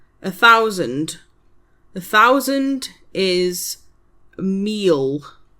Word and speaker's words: mil: A thousand is meal.